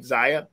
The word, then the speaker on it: Zaya: Precious said that it was actually how you pronounce the young person's name, Zaya.